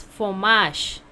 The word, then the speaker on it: fromage: So is fromage. How to pronounce?